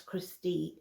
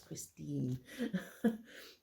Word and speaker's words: Christine: For some reason, I read Shannon Christine as Christy the first time I read it. And it was only the month that I looked at it and was like, that is not how that is spelt. It's not how it's pronounced. It's Christine.